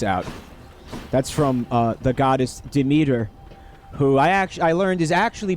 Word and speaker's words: Demeter: Yeah, the voice acting pronounces it Demeter.